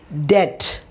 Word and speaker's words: debt: Debt, B is silent.